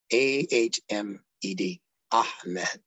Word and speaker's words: Ahmed: his true name is a hmed what is that a h m d all the consonants a is a consonant if you didn't know it's pronounced from the back of the stone ah ah so what is that